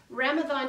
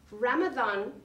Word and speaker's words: Ramadan: Ramadan is spelled with an M, but pronounced with a TH, and that is an Arabic pronunciation.